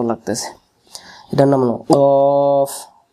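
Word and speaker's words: قاف: এর সাথে রফ মানে সাকিনের উচ্চারণ এমন করে উচ্চারণ হবে অক্ষর শিখাই আজকে আজকে ছয় অক্ষর থাক আর কফ দেখতে একই রকম ভাই বোনের মত এর হল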